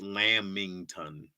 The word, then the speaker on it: lamington: still tripping that's still ridiculous okay uh it's pronounced lam mington what lamington that's not what you wrote okay it's definitely